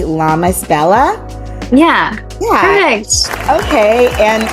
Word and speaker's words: Lamasbella: Internet her name is Yuri make sure I'm pronouncing it correctly llamas Bella yeah yeah perfect okay and if I I'm